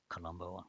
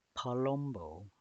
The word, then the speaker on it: Palumbo: Columbo, not Columbo. Palumbo. That's how you say her name.